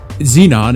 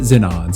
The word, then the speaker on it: Zenon: The first goes by the name Zenon. Xenon if you're American, but I typed it into Google Translate and the Japanese pronounce it Zenon, so we're going with that.